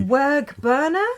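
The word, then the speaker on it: wearg burna: Werg-Burner? Werg-Burner. It's spelled W-E-A-R-G, so we think that's Werg, and Burner, B-U-R-N-A.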